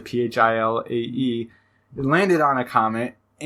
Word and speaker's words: Philae: The I think it's pronounced fillet. It's the Philae.